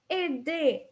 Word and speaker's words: aider: And you can tell that in all the verbs that I just said, I never pronounce the R, okay? We never pronounce the R in the ending, okay?